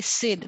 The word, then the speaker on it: CYD: Okay, you just say Sid, like you would pronounce.